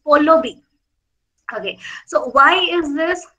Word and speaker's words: Pallavi: My name is Pallavi, and it's V-I, okay, V for van, and I.